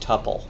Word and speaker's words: tuple: it's an immutable list seems like it should be pronounced tupple and why do I say that because it's short for multiple mult right this is double and if you added another value you'd have a triple and if you added